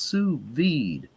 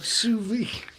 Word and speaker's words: sous vide: I believe it's pronounced sous vide, Tommy. Todd. I believe it's sous vide.